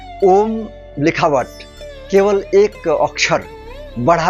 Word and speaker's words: ओम्: दूसरा दूसरी चीज है इसीलिए ओम को हमेशा ओम ही बोलना चाहिए अभी मैंने अत्यंत प्रामाणिक